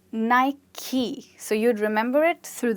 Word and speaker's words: Nike: with this sports brand, which is called Nike. Is it? No, it's not. It's called Nike.